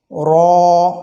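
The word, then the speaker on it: راء: খেয়াল করব যেমন র র অনেকে রা বলে থাকি এটি সঠিক নয় সঠিক উচ্চারণ হচ্ছে র যেহেব্বার আগার উল্টা পিঠ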